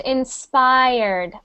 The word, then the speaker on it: inspired: said the word inspired that's pronounced inspired IR inspired Inspire Inspire okay and we want to hear if you're saying it past tense we want to hear the D inspired ins was inspired